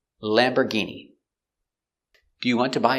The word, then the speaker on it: Lamborghini: one is lamborghini lamborghini we see it's not or it's lamber and the g makes a hard g sound lamborghini this is a lamborghini let's look closer at the pronunciation pronunciation of lamborghini lamb er lamber lamber use the closed er sound lambor lamberg e lamborghi lamborghini e lamborghini remember use that sound lamborghini lamborghini lamborghini stress on the first syllable lamborghini do you